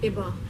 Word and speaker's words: Fiba: Dear Fiba, your name half rhymes with Siba, the dance move that's in.